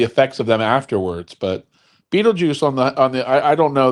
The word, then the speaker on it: Betelgeuse: And sorry to tell you, but it's Betelgeuse, not Beetlejuice. Yeah, when you move to the northern hemisphere, you can dictate how we pronounce things. Every American in here is like, it's Beetlejuice.